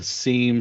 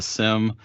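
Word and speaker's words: SIEM: and events management system some people call it a seem some people call it a sim uh i generally call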